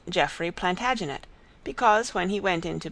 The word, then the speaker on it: Plantagenet: covered with his visor the Latin name for broom is plantagenista and gradually it came to be pronounced plantagenet although Jeffrey was French